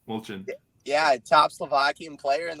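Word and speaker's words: Molčan: Although the guy he's playing is pronounced Molchan. Molchan.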